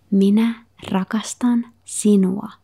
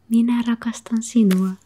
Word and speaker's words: minä rakastan sinua: So, I love you is minä rakastan sinua.